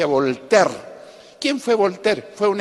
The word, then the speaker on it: Voltaire: habrán leído se escribe bolt aire pero se pronuncia a voltaire quien fue voltea fue un escritor fue un